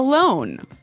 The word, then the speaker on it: loan: money you get a loan a loone yes not to be confused with alone like by myself no so this is l o a n loan right okay great let's